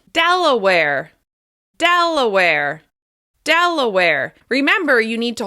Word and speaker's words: Delaware: Next up, Delaware. Delaware. This state is stressed on the first syllable. Delaware. Delaware.